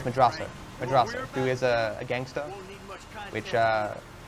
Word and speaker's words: Madrazo: He's hiding in this house that happens to be owned by Martin Madrazo, which is no, it's Madrazo, who is a gangster, which starts all the shenanigans where Michael has to pay back a debt to Madrazo, whatever.